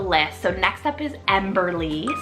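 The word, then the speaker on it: Emberlie: so next up is emberly spell e-m-b-e-r-l-i-e emberly this is beautiful it's long three syllables and emberly means fiery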